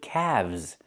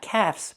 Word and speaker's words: calves: Or you have two calves. Not calves, but calves. The L is silent and we pronounce the V sound with vibration plus the Z sound like zebra together.